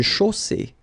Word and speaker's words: chaussée: Une chaussée. Okay, here, final not pronounced. And then you get the double S between two vowels, so it's really strong. I mean, the S is s. Okay, so une chaussée.